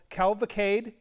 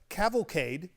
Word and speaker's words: cavalcade: up on your show your calvicade how do you say that word cavalcade cavalcade a cavalcade what is